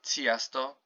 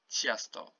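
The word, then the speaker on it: często: have an example here chasto do not say tiesto it's chiasto it's like you're saying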